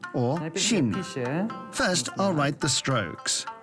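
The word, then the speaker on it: 新: It's pronounced or shin.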